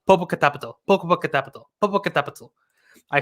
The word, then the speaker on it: Popocatépetl: Well, let me try to get this pronunciation right. It's Popocatépetl and Iztaccíhuatl.